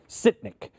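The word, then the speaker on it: Sytnyk: Sitnik.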